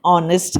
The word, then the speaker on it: honest: consonant she is an honest girl why have i said an honest girl why because h is silent be pronounced honest as